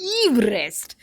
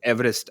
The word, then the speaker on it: Everest: Well, apparently, we've all since childhood and schools and every reference, we've always referred to him as Everest, as in rhyming with cleverest. But it is Everest because that's how his family name goes.